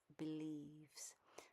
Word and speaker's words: believes: So even though, again, we have an IE in the middle of the word, this is pronounced as a long E. So we would pronounce this as believes.